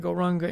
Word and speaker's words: Gauranga: The mantra for our meditation tonight will be the mantra Gauranga, and we will divide Gauranga into 4 syllables: Go, Ra, Ang, Ga.